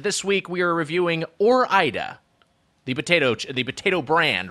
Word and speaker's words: Ore-Ida: orienta i i think i think ori ida is close i mean i think there's a case for that because it is like oregon and so you start to do if you start to pronounce that next syllable i i i there's there's a case for aura ida uh but i but i believe it's or ida is the correct pronunciation i guess we'll just